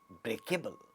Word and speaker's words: breakable: and adjectives, we have we have a stress on the original word. That is, if it is derived from break, the stress is on break. So, we say breakable, breakable, breakable. So, break gets stressed.